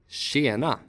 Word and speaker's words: tjena: The combination TJ sounds like sh. Tjena.